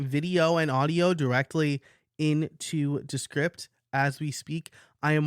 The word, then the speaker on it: Descript: podcast is descript or descript I've heard it pronounced both ways and I've never gone to an official source to hear how it's pronounced so I'm going to say descript like description description I guess if you